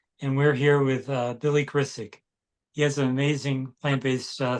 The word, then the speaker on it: Grisack: Yeah, no, it's like it's weird because it's Grisack, Yeah, but the S is pronounced like a Z, so it's just weird, I see.